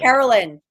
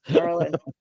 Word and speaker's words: Carolyn: She gets upset when you mispronounce her. Carolyn. Yes. Carolyn.